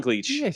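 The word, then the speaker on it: Gleich: it's it's it's uh it's spelled GLE i c h um oh so gleech you know mustach abely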